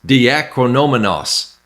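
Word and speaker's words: διακρινόμενος: The Greek word right here is pronounced diakrinomenos.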